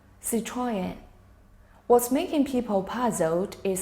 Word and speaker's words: Citroën: What's making people puzzled is Citroën is French, so there must be some letters that don't sound the way they usually do or aren't said entirely. But as far as French words go, this one is actually simple.